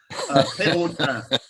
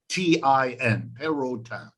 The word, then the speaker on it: Perotin: of French origin, so they say it Virginie Perotin. P is in P, I'll spell it in case you want to look it up. P is in Peter, E-R-O-T-I-N, Perotin.